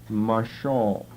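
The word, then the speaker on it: משל: rule that shall rule is simply Michelle M long a sh short a l Marshall which means to rule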